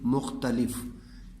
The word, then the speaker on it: مختلف: میم پیش اور خے. مخ تا تے کے اوپر زبر ہے، لام کے نیچے زیر ہے اور فے کے اوپر آگے پھر جزم ہے، یعنی کہ یہ ساکن ہے. میم پیش خے مخ تے زبر تا مختا لف لام زیر فے لف مختلف مختلف.